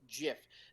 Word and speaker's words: GIF: of them basically said he designed it so that it was pronounced GIF. That is the proper pronunciation that he created it with. You And literally you should have spelled it with a J.